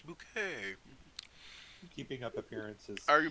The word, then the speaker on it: Bucket: bucket so good yeah Mrs bucket yeah um it's bouquet Keeping Up Appearances are